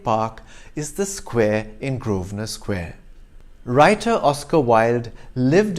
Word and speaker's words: Grosvenor: you visit london's second largest garden square don't pronounce it as crossfinder square but as grosvenor square developed by british aristocrat sir richard grovenow